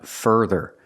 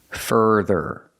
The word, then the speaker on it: further: our R Burger fur further so both syllables have the same sound further further put the stress on the first syllable so if your idea